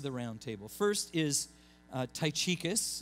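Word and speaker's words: Tychicus: round table first is ty chicas is how we pronounce it I imagine if you go a little more true to to to the Latin or the Roman it would be more like tight Atticus Tai Chi dickus something like that anyway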